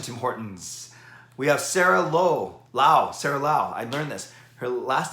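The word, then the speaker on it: Laug: We have Sarah Lau. I learned this. Her last name is actually spelled L-A-U-G, but the G is silent. And she told me it was like the Chinese Lao.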